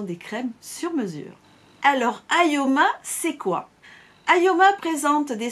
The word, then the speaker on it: Ioma: Alors Ayoma, ça s'écrit Ioma. Si vous le mettez à l'envers, c'est pour ça que je vous le disais au début, ça veut dire à moi.